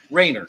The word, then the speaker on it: Wagner: good afternoon sir Mr Wagner yes sir is that how you pronounce your last name Ranger Rainer okay the g is silent gotcha yes well Mr Rainer do you understand your